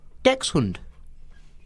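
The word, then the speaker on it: dachshund: whether about whether it's Dash Dax Das Das DX sure uh well I looked up the pronunciation of that on YouTube it is in fact Dex hund see we're fat though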